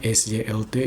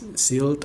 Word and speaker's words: Sylt: Tapi ada nih misalnya kayak kota di Jerman kayak pulau gitu, tulisannya SYLT itu dibaca Sylt, Sylt bukan Silt atau apa, tapi Sylt.